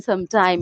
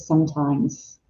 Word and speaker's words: sometimes: Sometimes, okay, so make sure that you pronounce the S at the end of sometimes.